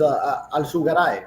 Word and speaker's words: Alzugaray: The true pronunciation of your last name is Alzugaray, right? Alzugaray. Yeah. Right, with the Z, like the T. If you're gonna really say it, como un gallego.